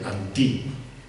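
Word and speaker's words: ἀντί: palabra en griego no sé si la hab pronunciar bien es muy sencilla anti como anti pero con natile en la i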